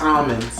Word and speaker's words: almonds: It's almonds. It's almonds. Oh my god. Listen, almonds. You cannot say the L.